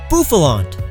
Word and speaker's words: Bouffalant: Bouffalante, from the bouffant hairstyle.